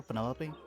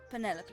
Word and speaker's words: Penelope: is that short for Penelope officially yes but I never can be bothered with all four syllables of it Penelope sounds a little ostentatious